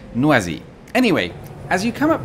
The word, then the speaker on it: Noisy: And yes, we can all see that says noisy, but the French insist on pronouncing it noisy.